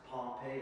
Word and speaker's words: Pompeii: That's Pompeii, pronounced Pompeii, like Pompeii.